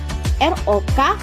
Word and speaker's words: rock: Contohnya ROK, ROCK, sama-sama dibaca rok tetapi artiannya satu pakaian, satu aliran musik.